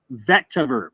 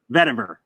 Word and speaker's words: vetiver: save vetiver ever now you did mispronounce it but i wasn't going to say anything but how did you say it vector vector vetiver vetiver there you go yeah no you sound